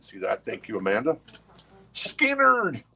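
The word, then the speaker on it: Skynyrd: Skinnerd, pronounced Skinnerd.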